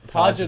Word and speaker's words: Pargiter: It's just Pargiter. Pargiter. Yeah, imagine so the I. You hit the G, which is good.